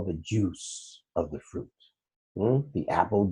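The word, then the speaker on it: juz: It's interesting that the 30th of the Quran that we're reading day by day, it's called the juice. Yeah, it's spelled J-U-Z, but it's called the juice.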